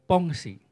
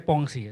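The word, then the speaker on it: Pensées: abad 17 membuat sebuah karya bernama pongsi ini bacanya pongsi Ya saudara dia mengatakan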